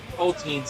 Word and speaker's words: poteen: There is one of the best Poteens I've ever had. I think it's technically pronounced Poteen.